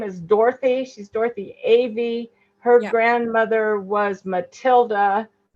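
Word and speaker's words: Ewy: And it's spelled, yeah, E-W-Y. Yeah. But my mom always pronounced it Avey.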